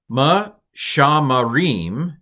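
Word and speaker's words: מְשַׁמְּרִים: It's a doubled mem, that has to be a vocal schwa. And since this first schwa is under the first letter, which coincidentally is also a mem, it's a vocal schwa as well. Ma-sham-ma-rim. Pronounce the M twice if you're really good.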